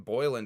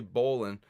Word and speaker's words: Boland: Justin Boyland, I think, recommended that to me. Boyland. I see that's another mispronunciation with me. I call him motherfucker Boyland. His name is clearly Boland.